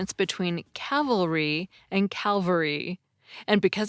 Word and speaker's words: cavalry: crucified big difference about the only way I can seem to get myself to pronounce cavalry right is to think of the word Cavalier first and sort of set my brain on the kaveh part although today we're most